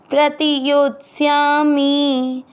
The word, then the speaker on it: प्रतियोत्स्यामि: प्रति यो के साथ आधा तयोत, आधे स के साथ या श्यामी, योत्स्यामी। तीसरा चरण रिपीट। ईशु भी प्रतियोत्स्यामी।